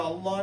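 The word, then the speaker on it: الله: ஒரே ஒரு சட்டம் லாம் ஃபுல்லா மௌத் ஃபுல்லா நாங்க உச்சரிக்கிற அல்லாஹ் என்ற வேர்டை மட்டும் அந்த அல்லாஹ் முன்னால வாற இழுத்த வச்சு ஃபா அல்லது தம்மா இருந்தா உச்சரிக்கிறது.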